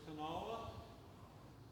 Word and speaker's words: Kanawha: It's Kanawha. Yeah, and so some people down in the hills, right where I grew up, it's like 2 syllables, Kanawha. But it's more technically 3 syllables, Kanawha.